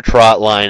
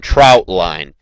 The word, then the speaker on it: trotline: wanted to explain to you guys what a trot line actually is I've heard it pronounced Trot Line and troutline trot line is the actual correct pronunciation A